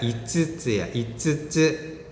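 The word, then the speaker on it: いつつ: 근데 5개는요, 이 가운데 츠가 커. 그래서 이츠가 아니라 이츠츠야. 이츠츠 5개. 그렇게 발음이 됩니다.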